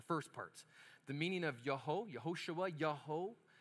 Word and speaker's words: Yehoshua: You would pronounce this baby's name in Hebrew, Yehoshua. Say it with me. Yehoshua. Yehoshua.